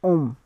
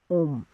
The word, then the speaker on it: homme: So to a man we will say homme, because H in front of that word is silent. So we will say homme.